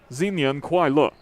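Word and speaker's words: 新年快乐: Yeah, Chinese is a tonal language, so you have to pronounce it in the way you pronounce it changes the meaning, so you have to pronounce it correctly.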